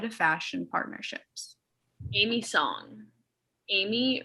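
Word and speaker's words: Aimee: fashion partnerships amy song amy rhymes with mommy song was born on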